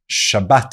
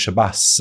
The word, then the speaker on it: Shabbat: you want to start hearing the Shabbat instead of Shabbass and all these other